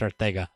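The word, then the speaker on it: Arcega: Aguilar, Hollins, and Ortega Whiteside, which I found out it's pronounced Ortega last night, filled in.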